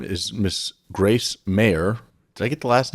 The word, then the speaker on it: Maher: And her name is Miss Grace Maher. Did I get the last name right, Maher? It's Maher, but everyone says Maher, so it's fine.